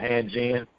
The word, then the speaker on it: Hanjin: So I never pronounced this company properly. So is it Hanjin? Yeah, Hanjin.